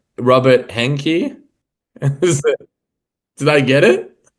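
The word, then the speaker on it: Henke: Um, Rob, how do I pronounce the name Robert Hanki? Did I get it? Yeah, Robert Hanker and um yeah, Gard um the two original founders.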